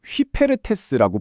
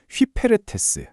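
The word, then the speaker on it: ὑπηρέτης: 당시 헬라어로는 이걸 휘페르테스라고 불렀는데요. 발음이 좀 낯설죠. 휘페르테스.이 이게 단순한 노동자가 아닙니다.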